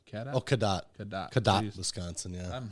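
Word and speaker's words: Cadott: c a d o t t Kat oh kadat kadat kadat Wisconsin yeah I'm horrible at these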